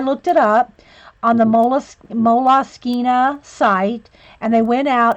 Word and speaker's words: Moleskine: So I looked it up on the Moleskine site, and they went out and they did a thing, and it technically, I guess, it's supposed to be pronounced Moleskine.